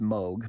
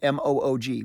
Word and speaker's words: Moog: So Moog, I think it's pronounced Moog, but M-O-O-G, Moog synthesizers.